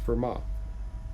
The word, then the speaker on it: Fermat: This is pronounced Fermat.